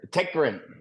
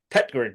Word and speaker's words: Tägtgren: me out my misery how do I pronounce the surname I know I got that wrong um don't worry tetr tetr there we go should yeah it should